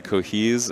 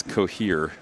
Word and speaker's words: cohere: wrong no no but there's a lot of people that say cohes and it's cohere yep cohesive I'm not